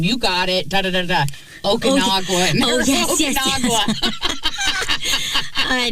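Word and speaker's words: Okinawa: me finally looking at you like, you mean Okanawa?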